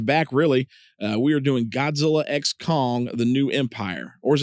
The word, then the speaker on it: Godzilla x Kong: So we're going to pronounce the X is what we're going to do. So Godzilla X Kong.